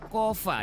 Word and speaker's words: COFA: Pemerintah Cuk menandatangani Asosiasi Kerjasama Bebas atau Compact of Free Association, dibacanya COFA ya, dengan COFA.